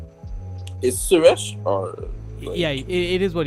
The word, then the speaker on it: Suresh: Is Suresh or? Yeah, it is what you just said. But some people, I don't know where they get a J from in the name. J? Yeah, they pronounce it Suraj.